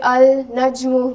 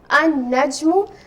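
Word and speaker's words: النجم: so we said that slam here will remain silent so i will not say al naju you know when we recite the quran so we'll say an najmu and the sun letter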